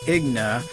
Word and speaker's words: Igna: oh this young cats name until today mister agna am i pronouncing your name right yeah okay good well